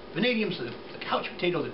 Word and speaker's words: vanadium: I came to vanadium, and I went, vanadium, you know, well, it sounds like vans, but there's not much story there. It rhymes with Canadian, but that's not, or almost rhymes with Canadian.